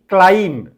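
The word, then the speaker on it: climb: त ग देखो ये जो word T अ क्लाइम ए word ये वर्ड साइलेंट ए वर्ड रे को लेटर साइलेंट क्लाइम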